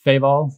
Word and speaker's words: Feval: It's by a guy named Charles Feval, F-E-V-A-L, accent on the E.